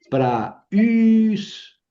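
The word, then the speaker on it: πραΰς: Pra us pra la primera sílaba is segunda sílaba pra us.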